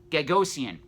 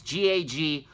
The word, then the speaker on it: Gagosian: Another gallery that we need to talk about is Gagosian, and I think I'm pronouncing that wrong. It's Gagosian.